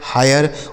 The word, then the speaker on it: hire: तो आई के बाद अगर RE हो तो आई का उच्चारण आय हो जाता है, जैसे फायर, हायर, वायर, tyre, inspire, मायर।